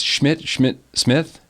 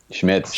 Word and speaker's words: Schmitz: It's Smith? Schmitz, you nailed it.